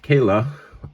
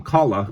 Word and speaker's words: Cala: His name might be pronounced CALA, but I'm going to call him CALA because it rhymes with call.